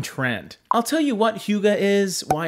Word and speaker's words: Hygge: it's all based on a Danish word that does not sound like the way that it's spelt. If you are a design super fan like myself, and you keep seeing this word pop up all over Google and Pinterest, it's pronounced Hygge, I think.